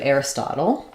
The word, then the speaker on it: Aristotle: Aris or Aristotle um typically we would say this the same as like little or Turtle where we would use a flap and a cabel um so Aristotle and